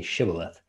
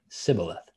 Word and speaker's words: shibboleth: would say to him then say shibboleth and he would say sybileth for he could not pronounce it right then they would take